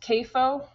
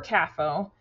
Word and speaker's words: CAFO: Note that this acronym could be pronounced CAFO or CAFO. It generally varies by region, but both pronunciations are referring to a concentrated animal feeding operation.